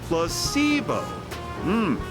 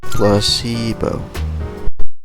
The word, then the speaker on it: placebo: today repeat after me placeo H the stress is on the middle syllable plusy bow very good you're fing